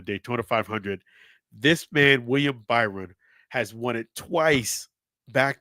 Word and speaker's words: Byron: So, props to William Bryson. I mean, I'm sorry, William Byron. I beg your pardon. William Byron. I shouldn't mispronounce his last name because the same as my son as well.